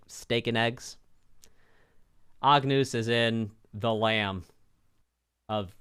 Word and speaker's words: Agnus: stuff also now now now that I'm pronouncing this correctly it is indeed Agnus Agnus instead of Angus I was thinking like Angus Young for Macy DC you know or Angus beef you know like steak and